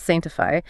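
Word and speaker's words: Saintifi: It's spelled s a i n t i f i, but read as sanctify.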